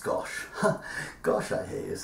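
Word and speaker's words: gâche: at the guernsey gosh which isn't spelt gosh but it is pronounced gosh gosh i hear you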